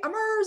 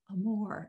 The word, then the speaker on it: Amur: bus and everyone's like hey ammer's on the bus and i'm like no no no i'm more and so we started practicing with everyone there it's a more i mean can you